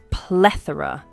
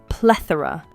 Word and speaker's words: plethora: pronunciation is is ple plethora yes the stress is on the first syllable PL plethora We Lay stress on PL say it with me plethora Sarah let's look at